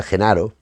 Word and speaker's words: Gennaro: En este caso, Genaro, pues debe ser Genaro, me imagino, que la G será pronunciada como Y, pero no sé, podría haberle puesto otro nombre.